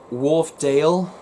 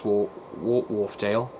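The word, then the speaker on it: Wharfedale: good good best friend darren at elvis in wolfdale or yeah wolfdale fan club okay i'm going to spell that to you because i'm i'm not i'm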